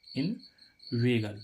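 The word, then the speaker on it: inveigle: जी एल ई इनवेगन इन वेगल देखो यहां पर इ आई का उच्चारण क्या आ रहा है ए यानी कि इन वेगल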